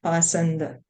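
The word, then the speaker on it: pāṣaṇḍa: understood the whole situation the word bakanda used in this verse is sometimes pronounced passenger both of these words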